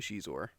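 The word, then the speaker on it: Xizor: Actually, I'm pretty sure it spells it phonetically Shizor a few times. I think it's I think it's canonically Shizor.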